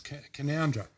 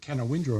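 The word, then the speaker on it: Canowindra: that we know now it took me a while to properly can pronounce kandra um because I've forever called It Can Windra and I first arrived in town but we have Wei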